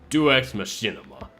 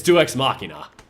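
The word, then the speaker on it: deus ex machina: that possible call it I forgot how to pronounce this I think it's French DX Machinima DX Machinima oh god oh it's DX Machina call it DX moina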